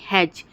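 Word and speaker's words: hedge: करते हैं एज हेज एच ई डी जी ई हेज तो हम हेज में क्या कर रहे हैं दोस्तों ई का प्रोनाउंस नहीं कर रहे वैसे ही वेज में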